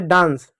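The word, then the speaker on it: dance: जैसे डांस डी ए एन सी ई ए के बाद एन है तो यहां पर आ का उच्चारण हो रहा है।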